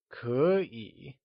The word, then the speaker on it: 可以: mind, which was that whenever there are two third tones in a row, the first third tone becomes a second tone. As we saw, still translates to hi, and okay translates to 可以.